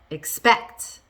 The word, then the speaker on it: expect: How about expect? Expect. It's on the second syllable there because it's a verb.